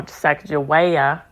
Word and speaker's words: Sacagawea: So anyway, when she was correcting Ben Stiller's character, she said, he was saying it, how it's colloquially pronounced, but she said, no, Sacagawea, and then she went in with the aspect of emphasizing, she was the ultimate single mother or so, right?